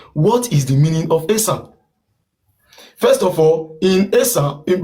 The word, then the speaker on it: Esan: The right pronunciation is ESAN, because the white people were pronouncing it because the first letter started from E. And in Edo language, there is nothing like E. It's A.